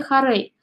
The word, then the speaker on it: хорей: самом слове это первый слог да теперь поставим ударение в слове хорей х рейда здесь мы тоже видим ударение на